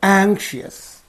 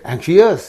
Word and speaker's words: anxious: So here you see that anxious, us is there. Ious. OUS is here, I is here. This means in these 2 syllables the suffix is. So what will be the syllable preceding the suffix means this one only. So you have to say anxious. You cannot say anxious. No, anxious, anxious.